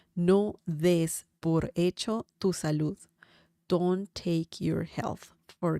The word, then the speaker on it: salud: Remember the sound at the end when saying salud. Okay, so that's an important sound.